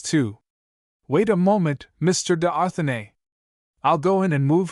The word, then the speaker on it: d'Arthenay: d'Arthenay, footnote, pronounced d'Arthenay, is this you?